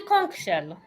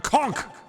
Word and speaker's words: conch: minutes ago it did a conk shell a conch nobody says that H okay well the